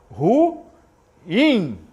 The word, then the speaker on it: ruim: pronunciar é ruim ruim porque ruim é uma palavra oxítona oxítona ao hiato aí você lembra do hiato Então temos aí é uma palavra oxítona essa palavra se pronuncia ruim não ruim é ruim muito bem então você